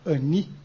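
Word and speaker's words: אני: e usada por Deus H duas maneiras de se pronunciar a palavra eu no hebraico Ani e anoki anoki é a forma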